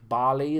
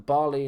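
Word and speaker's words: Bailly: got the new one Eric barley as they call it is it barley is it pronounced Eric Bailey it says Bailey I'm saying Bailey um but just a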